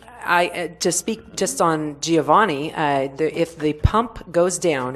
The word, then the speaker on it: Giovanni: I have a point in Italian it's Giovanni not geo you don't say all the letters it's Giovanni I know this because